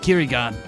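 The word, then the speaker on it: 唭哩岸: The Japanese pronounce it Kirigan.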